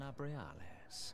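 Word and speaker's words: Nabriales: Think, give me the pronunciation immediately. I am Nabrialis. Nabrialis.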